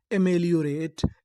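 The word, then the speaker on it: ameliorate: आर ए टी ई, इसे क्या पढ़ेंगे? रेट। क्योंकि ई का हमें उच्चारण नहीं करना, तो हमारी पूरी मीनिंग क्या बनी? ए में लियो रेट, एमेलियोरेट, एमेलियोरेट।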